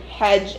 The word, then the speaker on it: Hajj: By the way, it's Quran, Hajj, and Allah.